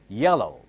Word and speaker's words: yellow: Now, double L is pronounced as single L. Do not say yellow. Do not say yellow. I hear a lot of people mispronounce as yellow. No. Double consonants are pronounced as single consonant.